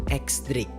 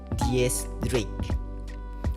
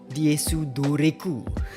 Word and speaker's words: X Drake: Yang pertama, nama X Drake ini sebenarnya bukan disebut X Drake, tapi Dies Drake. Di pengucapan bahasa Jepangnya disebut Diesu Doreku.